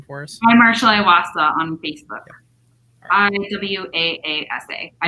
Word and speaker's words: Iwaasa: because i know i'll butcher it can you pronounce his last name for us i'm marshall iwasa on facebook on w-a-a-s-a i know it's a